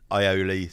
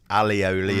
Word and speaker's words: aioli: I think it is pronounced differently in different countries, but sometimes it's aioli, sometimes it's alioli if you buy the little yellow tubs.